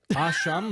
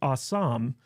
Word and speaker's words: Ah Sahm: his TV show awesome is that what Ashan means no it's pronounced Assam but if you think